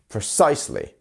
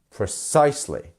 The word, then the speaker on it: precisely: a symbol here so which part of the word is our stress syllable the size right precisely precisely and we're not yeah